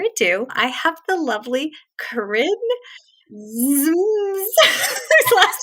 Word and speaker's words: Corinne Zmoos: So my name is Corinne Zmoos.